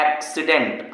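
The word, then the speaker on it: accident: दी आई एन टी पहले सी को का दूसरे सी को साफ पढ़ रहा हूं एक्सीडेंट हान अगला क्या लिखा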